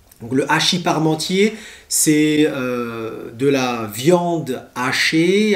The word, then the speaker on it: hachis parmentier: très important en france vous avez ensuite le hachis parmentier le hachis parmentier le hachis parmentier c'est de la viande hachée avec des pommes